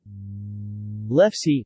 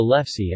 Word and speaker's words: lefse: lefse norwegian pronunciation elfs is a traditional soft Norwegian flatbread